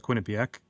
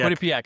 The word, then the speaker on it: Quinnipiac: So at Quinnipak and uh yeah I've I've always lived here. Yeah. How do you pronounce that? The college Quinnipak. Quinnipc. Quinnipiac.